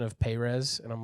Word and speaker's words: Perez: I'm glad you said Perez, because I think in Bible college there's a very pretentious pronunciation of Perez, and I'm like, let's not do that. So I'm glad you went with Perez.